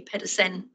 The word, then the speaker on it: Pedersen: And if he was here, he'd tell me off because I've spelled his name wrong, because he's from Denmark, not Sweden. So it should be Pedersen, but that was me